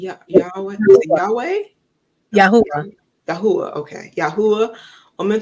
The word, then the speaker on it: Yahweh: for the typo man follows how do you pronounce that six y yah Yahweh Yahweh Yahweh okay Yahweh woman follows man children